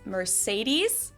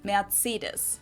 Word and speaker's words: Mercedes: So most Americans call this Mercedes. Right. In German, we pronounce it Mercedes. Oh, so wow. Mercedes versus Mercedes. Mercedes. So it's really pretty different.